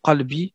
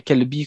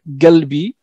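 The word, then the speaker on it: قلبي: lequel on entend souvent le mot qalbi, hein, mon cœur, dont on parlait toi et moi tout à l'heure aussi, qui devient kalbi quand on ne prononce pas bien, et qui veut dire mon chien.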